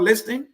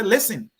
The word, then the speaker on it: listen: i like that so next time pronouncing a word listing i would say listen i will not pronounce the t as a media person